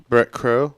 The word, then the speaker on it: Bret Crow: is that reggae today it says that you pronounce your name brick crew yes the way we've been